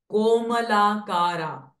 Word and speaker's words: कोमलाकारा: Komalakara. Only ma is raswa, while kolakara are dirgha swaras. So give long time, double time to pronounce this.